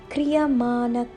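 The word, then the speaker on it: क्रियमाण: Kri, like creed without the D, and with a rolling R. Kri. Y, short y. Ma, slightly long ma. N, short n. Kri ya ma n. Karma. Kriyamana karma.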